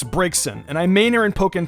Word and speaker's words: Braixen: T in its spelling break seein its braixen and I Manor in